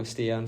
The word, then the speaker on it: Stian: Yes, Stian.